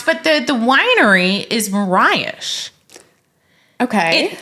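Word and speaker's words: Morais: called cherry wine perfect it's easy enough to pronounce but the the winery is Mirage okay it's m-o-r-a-i-s thank you so I thought it was race or something like that but it's Mirage okay is how it's pronounced lovely Winery I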